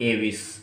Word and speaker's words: Aves: हाँ, उसके बाद थर्ड जो क्लास है, थर्ड क्लास को बोलेंगे हम एविस, AVES, एव्स।